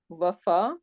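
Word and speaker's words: وفى: So whenever there is Fatha before Ya, then basically we are not pronouncing when it is three root letter, right? Wafa. But look at if we have Waliya, this is also another Mafruq, right? So Waliya, now over here we are pronouncing this Ya.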